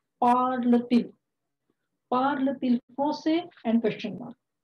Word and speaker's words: parle-t-il: So inverse it, parle-t-il français with hyphen. So here, parle is ending with T consonant and il is starting with vowel. So there is a liaison and pronunciation is parle-t-il.